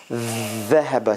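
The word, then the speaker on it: ذهب: Dhahaba. See, the tongue is all the way out and under the teeth.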